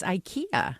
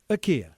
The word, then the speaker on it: IKEA: according to their website according to their officials it's AA it's not I oh okay so do